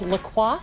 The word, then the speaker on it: La Coiffe: It is Le Coif. Yes. Am I saying that right? Yes, you're pronouncing Salon it correct.